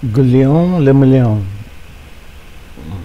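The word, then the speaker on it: Guillaume Le Million: If it doesn't rhyme, you're not pronouncing it right. Guillaume Lamillion.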